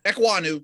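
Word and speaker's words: Ekwonu: about a chem equaniu i don't know if i'm pronouncing that right we'll try to figure this out as the draft process uh yeah amazingly enough you don't you don't hear a lot of offensive lineman mentioned on the broadcast right yeah but no you're right equanu you said it right i mean he boy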